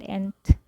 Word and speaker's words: Entgegen: And how do I pronounce that? Entgegen.